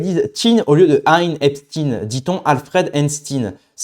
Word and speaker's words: Einstein: Euh l'autre qui qui avait une île privée avec des gosses dessus, on dit Epstein. Voilà. Mais on dit Einstein. C'est vrai que c'est assez intéressant. Pourtant, ça s'écrit de la même manière.